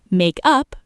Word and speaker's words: makeup: Make up, verb, stress on up, equals invent, redo, reconcile, apply cosmetics. Makeup, noun, stress on make, equals cosmetics, a redo, composition.